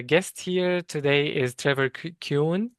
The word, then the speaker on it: Kuhn: So my uh guest here today is Trevor Cun. Am I pronouncing your name right? Yes, it's German.